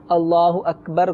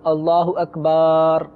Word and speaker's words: اللہ اکبر: کسی نے غلط کیا، مثلا اللہ اکبر کو اللہ اکبار یوں کر کے اگر کسی نے شروع کیا تو اس سے نماز شروع ہی نہیں ہوئی. صحیح. اور اگر اللہ اکبر صحیح کہہ کے نماز